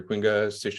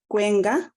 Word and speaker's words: Quenga: her Mentor is Dr quinga I hope I pronounced that correctly um and I will turn it over to her all right thank you Justin um just a minor correction there it's quenga yeah you nailed it